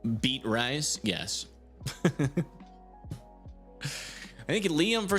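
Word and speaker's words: Beatrice: It's pronounced beat rice.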